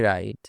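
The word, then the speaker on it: wrong: এখানে W silent right মানে লেখা যেমন আমি লিখি আই রাইট আই রাইট সে চিঠি লেখে he writes a letter he writes a letter আবার রং এখানেও ডবলিউ সাইলেন্ট রং মানে ভুল এটা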